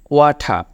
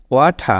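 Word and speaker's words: water: rice bread or drink ওয়াটার উচ্চারণটা খেয়াল করবেন লাস্টে আর এর কোন উচ্চারণ হবে না এখানে উচ্চারণটা হবে ওয়াঠা ওয়াঠা আমি যদি লিখে দেই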